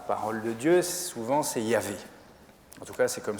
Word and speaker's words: Yahvé: Alors pour ceux qui le savent, le nom de Dieu dans la parole de Dieu, souvent c'est Yahvé. En tout cas, c'est comme ça qu'on le prononce.